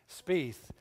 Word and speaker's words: Spieth: Jordan speith I'd ask Tony how do you pronounce his last name Spieth jordan Spieth is a professional golfer of course